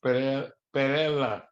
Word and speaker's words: Pereda: It's actually pronounced Perela.